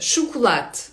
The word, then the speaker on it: chocolate: це ч, choч chocolate, але в португальській це не ч, а ш. Нема звуку ч. Є, але там треба поєднати так літери, щоб вийшло ч, чау, наприклад. Чау-чау. Отже, шукулет. Ш читається. Так.